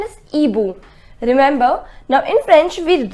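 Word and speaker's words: hibou: boom the pronunciation is EBU remember now in French with right H but we do not pronounce it this H does not have its pronunciation so it is not he boo it is EBU which means an old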